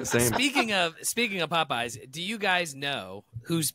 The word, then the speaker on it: Popeyes: do you pronounce that Popeyes just Popeyes Popeyes popyes feels like feel like you are adding an H after the second P poy poy I mean